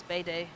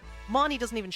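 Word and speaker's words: Bede: pronounce his name properly I think it's Bay day because of the way they pronounce it in the song but yeah him goes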